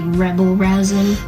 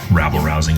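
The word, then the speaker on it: rabble-rousing: It'd be rebel rousing. Rabble is a word as well. Rabble rousing is a thing.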